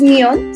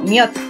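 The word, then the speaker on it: 몇: No es Myon, sino Myot.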